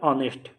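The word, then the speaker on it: honest: ऑनेस्ट में एच है लेकिन इसका साउंड हो रहा है ऑनेस्ट, ओ, ठीक है, यानी ए से ये प्रोनाउंस हो रहा है, इसलिए यहाँ पे एन यूज होगा।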